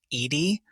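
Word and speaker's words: Eadie: Um, there's this quote by um, Betty, I think she pronounces her last name um, Edy.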